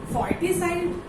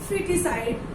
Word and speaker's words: foeticide: According two spelling तो इसको क्या प्रोनाउंस करना चाहिए? फॉर्टिसाइड. लेकिन नहीं, ये प्रोनाउंस क्या होगा? फिटिसाइड. क्यों होगा फिटिसाइड? क्योंकि ओ क्या होगा? ओ साइलेंट रहेगा, क्योंकि ओ और ई, ओ एंड E both are vowels. That's why O will be silent and A will be pronounced.